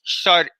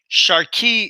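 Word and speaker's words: sharqi: Now, that aspect of the dance is called raqs shari. Sharki if you're outside of Cairo, because in Cairo they don't pronounce the k.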